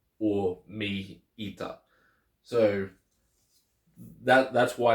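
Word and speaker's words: μ: than me y or mea so that that's why it's written okay so it's pronounced me but not pronounced but doesn't matter what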